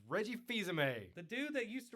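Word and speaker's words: Fils-Aimé: all you need to know rowdy Reggie no visa mate it's Reggie fils-aime a the dude that used to run Pizza Hut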